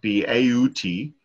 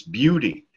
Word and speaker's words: beauty: are very confusing so it's not the outie it's not bau-t its beauty so essentially phonetically you'd